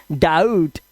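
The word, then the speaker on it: doubt: आउ शक्ति कपूर आउ जैसे डाउट ओ यू आया ना तो आउ की आवाज डाउट और इसका बी साइलेंट होता है।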